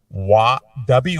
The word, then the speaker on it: Watanabe: His last name sounds like wannabe because it's actually spelled like that. It's Watanabe.